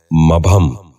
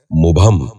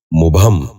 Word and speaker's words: مبہم: غور سے سنیے، مبتلا۔ نواں لفظ ہے مبہم۔ یہ غلط تلفظ ہے، درست تلفظ ہے مبہم۔ دوبارہ سنیے، مبہم۔ بچوں آپ بھی غور